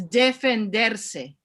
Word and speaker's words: defenderse: Rabbi, I'm going to correct your Spanish. Please. It's defenderse. Defenderse. Thank you. I'm learning Spanish now, so I'm very happy. Defenderse. Yes. Thank you. And you even rolled your R correctly.